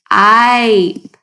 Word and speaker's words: ripe: Add the E on the end and turn that I into a long I sound. What word does it become? Ripe.